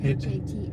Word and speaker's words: Hatay: How do they pronounce that? Hatay.